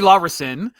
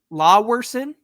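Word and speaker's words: Laweson: Cody Lverson is the guy Lawson. Lverson. Lawson. Yeah. Lesson. Thanks to Jeff Fletcher from the OC register for giving that pronunciation.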